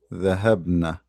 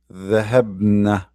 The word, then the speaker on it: ذهبنا: Hunna ذهبنا. Shadda, which will make it pronounced as if you are adding two letters, but in fact there's only one.